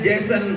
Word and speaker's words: Jason: Pagi tadi saya buka handphone, waktu ngelihat YouTube, halaman pertama berita tentang Jason, tulisannya Jason, bacanya Jason Statham, artis laga, tahulah, mobilnya bagian kap depan dia buat gambar bendera Palestina.